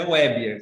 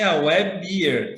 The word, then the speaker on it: Weber: Bom, desculpa, Meu nome é Weber, é meio estranho mesmo, meio diferente, mas é Weber, essa pronúncia. Alguns falam assim, Weber, que tem cerveja no meio, então já se torna mais fácil de entender.